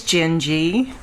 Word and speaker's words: Jengi: what I do so my name is gingy rhymes with Bengie that's all my mother's